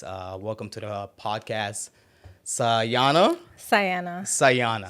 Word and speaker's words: Sajana: Diana with an S sayana interesting interesting gu s and it's if you see how it's pronounce it has a j and the J is silent the J is silent